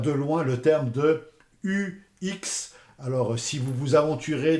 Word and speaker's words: UX: euh terminologie de UX, attention euh dites bien UX à la française. Ne vous aventurez pas dans des prononciations à l'anglaise. Euh dites bien UX. Si vous êtes dans un milieu anglophone, vous pouvez tenter le UX. Mais c'est bien un UX. Attention au mélange du U à la française, du U à l'anglaise, le X à la française. Méfiez-vous des prononciations. Donc, restons franco-français et prononçons UX.